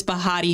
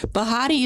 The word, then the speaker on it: Behati: My name is Bahati. Bahati is pronounced like Betty, but with a heart in the middle, cuz I hope to make you laugh today.